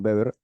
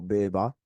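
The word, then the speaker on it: Weber: ya lo sabrán seguro son beber o beba como se pronuncia en alemán y durkheim dur ellos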